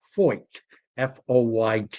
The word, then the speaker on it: Feucht: Uh, and at any rate, his name could certainly come across that way, but it is actually pronounced fo fo yt.